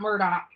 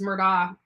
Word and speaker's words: Murdaugh: out of trouble um if you know the last name Kavanaugh then you know the pronunciation of Murdoch exactly perfect perfect uh perfect example yeah so uh that's another thing you know it's not Murdoch it's Murdock um it could be I